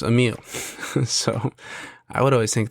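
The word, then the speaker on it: Emile: Google it and um it's pronounced Amil so I would always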